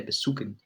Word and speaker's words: besuchen: You're not pronouncing the C. The CH is almost as if it's a K in English. You'd say besuchen.